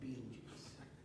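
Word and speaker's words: Betelgeuse: in the constellation Orion it's called B Goose for ease of pronunciation everybody calls it bee juice a Million Suns could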